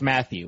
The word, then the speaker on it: Mathieu: His last name is literally pronounced Matthew. Yeah, it's just Matthew. Is it, though?